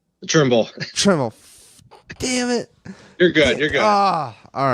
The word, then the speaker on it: Trimble: Okay, well, that's been Thimble. Thank you so much. Did I say it right? Trimble.